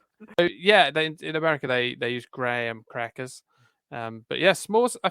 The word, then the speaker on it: Graham: No, it's a Graham, as in the name.